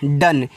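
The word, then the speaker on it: done: आगे डी ओ एन ई इसको पढ़ेंगे डन।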